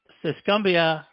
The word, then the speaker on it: Tuscumbia: Tuscumbia, Alabama.